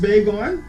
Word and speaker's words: Baigon: The name is pronounced Baigon, but I spell it Baigon.